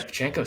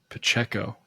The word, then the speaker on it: Pacheco: What do you call him? Pachenko? Pachenko. Pacheco. Say it. I know. I always say Pachenko. I think I spell it that way too. I mean, that's just not even close to his name.